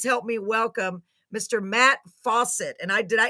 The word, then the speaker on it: Fawcett: me welcome Mr Matt Fawcett and I did I it is literally pronounced like faucet right Matt yes ma'am